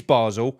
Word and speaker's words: Basel: for sake is it Basel basil what is it it is Basel I swear it's Basel because I've heard oh